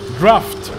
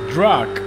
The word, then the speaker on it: draft: Porsche a draft speed draft speed how to pronounce that guys I'm sorry draft the Porsche has enormous draft I was I was saying for like 10 videos straight I was saying drug and I'm sorry for that it's because English is